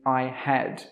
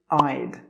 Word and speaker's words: I'd: Most native speakers don't say I had. They will say I'd.